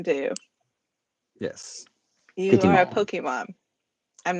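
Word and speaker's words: Pokémon: that so I'm aware it is not Pokey yeah pokey pokey poke Pokemon that's right it's a poke but I've got a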